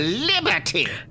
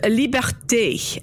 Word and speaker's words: Liberté: Mademoiselle Liberty! It's pronounced Liberté, and it's Madame.